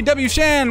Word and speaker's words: WShand: All right, computer number three, WShand, what's up? Hey, oh, sorry, it's actually pronounced WShand.